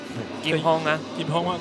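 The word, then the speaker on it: 金鋒: Kim Hong, that's the Taiwanese pronunciation of his name.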